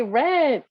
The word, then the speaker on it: read: 9 oh read okay yes impression we say read and in the past how do we say right we say red that is like the color red right it is something